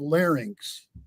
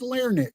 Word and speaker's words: larynx: by the way I I congratulate you on pronunciation of larynx oh a lot of people call say LX really oh yeah maybe it's a Midwestern thing but oh man he injured as L Nick you know never heard